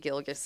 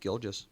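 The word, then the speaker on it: Gilgeous: It is It was It is interesting though because like I didn't really know much about Sheay Gilgus Alexander.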